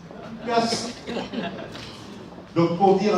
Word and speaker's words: Ghass: Vous comprendrez que mes premiers mots soient à l'intention de l'artiste Gache, pour lui dire... Gasse. Il y a un débat d'ailleurs sur la prononciation. Comment est-ce qu'on prononce? Gasse. Gasse.